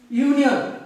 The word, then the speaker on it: union: Union, the word union begins with the word U, but it sounds like Y.